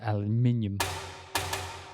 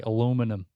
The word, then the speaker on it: aluminium: Alutube, I guess aluminium. Or as the Americans say, aluminum. It's one of those aluminum tubes.